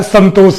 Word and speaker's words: संतोष: इसीलिए हम लोग का उच्चारण जो होता है संतोष होता है। ये अनुस्वार लगाए हैं, लेकिन जब हम लोग इसको बोलते हैं, उच्चारित करते हैं, तो क्या कहते हैं, संतोष कहते हैं, 9 का उच्चारण लेकर के कहते हैं इसको।